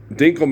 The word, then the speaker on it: Dinkle: Dinkle man, dinkle rhymes with winkle.